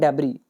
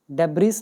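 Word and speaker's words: debris: मलबे को हम बोलते हैं डेबरी। डेबस नहीं पढ़ते इसमें एस साइलेंट होता है। इसको डेबरी बोला जाता है।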